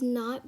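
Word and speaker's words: knot: you pronounce it as not because the k is silent and you pronounce it as n o t it's like the k is not there while you pronounce it but when you write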